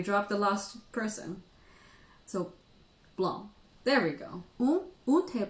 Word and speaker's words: blanc: Yes, but pronounced blanc. Blanc, not blanc. Of course. So all I need to do is to remember to drop the last letter of a French word as long as it's a consonant.